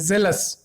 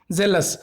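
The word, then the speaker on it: zealous: इसको जनरली लोग जील भी बोलते हैं और इसको जेल भी बोलते हैं, जेलस, जेलस। और अगर यहीं पे ये जी हो जाता तो जीलस, जीलस, ठीक है, ये डिफरेंस है।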